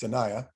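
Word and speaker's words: Sinaia: beautiful mountain town called sanaya which is like sinai same name only it's pronounced sanaya peles castle this was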